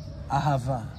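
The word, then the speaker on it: אהבה: What is love in Hebrew? It's ahava.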